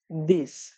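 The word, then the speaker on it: dix: 9 এটার প্রোনাউন্সিয়েশন হলো নার্ভ এবং সবশেষ 10 এটার প্রোনাউন্সিয়েশন হলো দিস।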